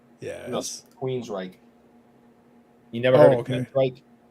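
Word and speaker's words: Queensrÿche: Queen Scrite. Yes. No, Queensryche.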